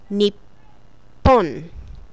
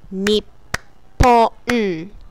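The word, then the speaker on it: にっぽん: Nippon. Nippon. Nippon. Nippon. This is another way of pronouncing the country that you live in.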